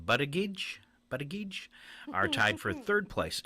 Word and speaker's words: Buttigieg: All right, California Governor Gavin Newsom and Transportation Secretary Pete Buttigieg, I can never say his name, Buttigieg are tied for third place.